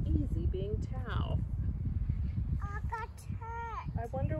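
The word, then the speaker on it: Thao: She's thinking she might rather have the name Olivia instead of Tao. Olivia, like this one. Letters get added and scrambled and left behind when people read her name. Thou. Tail, some people call her accidentally Tail when they read her name.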